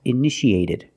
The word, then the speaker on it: initiated: initiate in the past initiated the second T is between vowels so we pronounce it like a fast D edited initiated initiated it means started example who